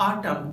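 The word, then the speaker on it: autumn: इन words में last में एम और एन आए हुए हैं तो इस सूरत में एन साइलेंट होता है। इसीलिए ऐसे वर्ड को हम कहते हैं आटम, सोलेम, कालम, डैम, हिम, कंडेम, यानी इन सभी वर्ड्स में लेटर एन साइलेंट होता है।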